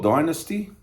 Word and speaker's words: Dynasty: album review of kiss dynasty or dynasty here we go it depends where you are how you say it um 1979 paul paul